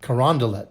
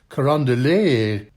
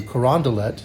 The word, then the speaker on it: Carondelet: Charles line is at Canal Street and Carondelet Street. It looks like it should be a French pronunciation, Carondelet, but it's not.